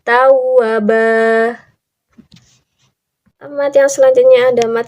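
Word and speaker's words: توابا: Contohnya di teks sebelumnya, di harokat sebelumnya, harokatnya seperti ini. Tawaban. Nah, kalau sudah jadi mad iwad menjadi tawabah.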